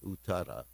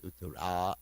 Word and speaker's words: Uttara: Virat was also named Uttara. There's Uttara and Uttara. So anyway, they had the same name with a different pronunciation of the last letter. Uttara is the lady, Uttara is the man.